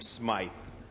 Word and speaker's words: Smith: He pronounces his name Smythe, just to help for the future.